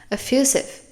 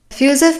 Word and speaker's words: effusive: love this word effusive the S sound is there there's no z sound effusive effusive means to give an